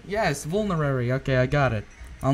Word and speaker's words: Vulnerary: Oh, Vulnerary! I pronounced it right! Yes! I can end the episode here. I pronounced crap, I can't do it again. Vulnerary. Yes, Vulnerary.